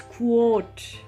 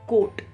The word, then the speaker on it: quote: इट्स क्वोट, इट्स नॉट कोट, jacket वाला कोट नहीं, blazer वाला कोट नहीं, इट्स क्वोट, QUOTE।